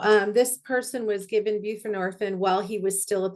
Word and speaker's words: buprenorphine: You can say buprenorphine or suboxin is a is a tamper resistant form of buprenorphine. Okay. Buprenorphine. Thank you. So um this person was given buprenorphine while he was still at the halfway house.